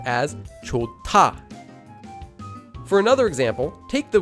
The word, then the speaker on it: 좋다: There's a hyut at the bottom of the first syllable, and it's followed by a digut. So the digut changes into a tiut. This becomes pronounced as 좋다.